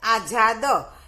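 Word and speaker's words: आज़ाद: आजाद। क्योंकि ये नुक्ता यानी कि दूसरी भाषा से आया हुआ शब्द है, तो उसमें क्या होता है? ज के नीचे नुक्ता लगता है।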